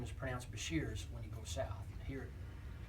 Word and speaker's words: Besher: and now I fat on there is it's pronounced Bashir's my name is prance Bashir's when you go south here it's long story